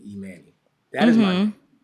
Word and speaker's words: Emanny: Now, did I say your name right? You you you did. You said it right. You said it. Well, what's right and what's wrong? Okay. So, my my mom and dad named me Emani.